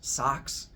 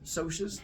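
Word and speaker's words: Socs: the entire book, and there's every chance you're going to start pronouncing it as socks instead of socius, which is fine. I'm used to it. But it's called socius because it's short for the word socials.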